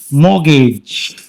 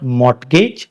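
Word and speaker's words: mortgage: Mourn मोगेज मोगेज यहां पे T silent रहता है। इट्स नॉट मगेज इट्स मोगेज।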